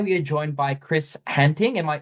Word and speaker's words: Hattingh: Today we are joined by Chris Hattingh. Am I pronouncing that correctly, Chris? Well, yes, it's actually Afrikaans surname. Hattingh is the way we pronounce it, but there are many different English pronunciations, but that'll do.